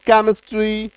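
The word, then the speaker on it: chemistry: तो उच्चारण क्या निकल गया? सीएच का क्योंकि क हो जाता है या च हो जाता है तो केमिस्ट्री क्वायर क्रोनोलॉजी टेक्नोलॉजी ऑर्केस्ट्रा क है ना मैकेनिक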